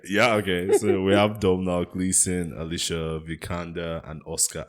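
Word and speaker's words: Domhnall: says I keep mistaking do you know how to pronounce Gleason's first name is is it domnal Gleason I think you're correct yeah okay so we have Dome now Gleason Alicia vikanda and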